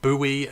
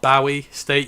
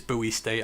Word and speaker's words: Bowie State: As always, Lisa has let me know that it is pronounced Buoy, not Bowie State. You're right. I should have known that. But again, it Yeah, it is buoy state.